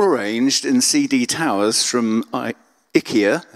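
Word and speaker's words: IKEA: in CD Towers from I ikia as I think you're meant to pronounce it which I don't think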